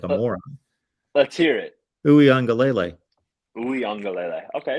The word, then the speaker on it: Uiagalelei: I gave it like a lele at the end. Yeah, I don't want to get lazy and do the ukulele thing that people do.